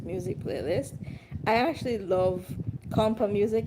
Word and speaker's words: Kompas: music in the Caribbean, compa music. It's spelled Kompas, and sometimes it's spelled Compas. And I think sometimes they drop the S also off of it.